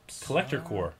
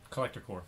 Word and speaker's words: Collector Corps: Collector Core. Collector Core. Yeah, P is silent. Collector Core.